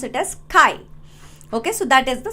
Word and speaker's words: chi: letter X but how is it pronounced it's pronounced as Chi okay how do you pronounce it pronounce it as Chi okay so that is the symbol now how